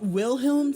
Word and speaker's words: Wilhelm: kaiser wilhelm ii wait isn't it wilhelm since it's a double you know the letter W does not exist in German therefore when you see a W in German it's actually a V yeah I know it's